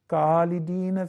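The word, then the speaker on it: خالدين: So they would have to write it KH. And accordingly, this is how you will pronounce it. Khalidina fiha, Khalidina fiha. What happened? You switched. It used to be Kha, now it is Ka. That is not correct.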